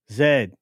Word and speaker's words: zed: Says, and it is pronounced Zed, not Z. Zed.